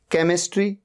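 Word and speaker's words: chemistry: After सी, सी के बाद एच आ रहा है। केमिस्ट्री, केमिस्ट्री सब्जेक्ट होता है, एच का यहां पर साउंड ही नहीं है।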